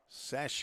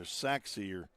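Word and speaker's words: Sachse: It's not it's not pronounced like like it looks. S A C H S E S Sache or something or Saxer.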